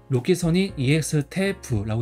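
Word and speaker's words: ロキソニンEXテープ: 그래서 이거는 일본 발음은 로키소닌 EX 테이프라고 읽어요.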